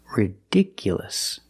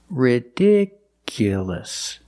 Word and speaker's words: ridiculous: Now let's look at this word. Ridiculous. The stress moved to the second syllable. Ridiculous. So the last 2 syllables are short.